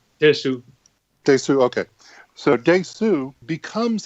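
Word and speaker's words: Dae-su: And Daesu, by the way, Peter, am I pronouncing his name correctly? Daesu.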